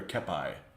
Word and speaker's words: kepi: Is it a kepi or a kepi? Kepi? Union troops gear is bland. Yeah. Got any Irish units? Kepi, so your first pronunciation.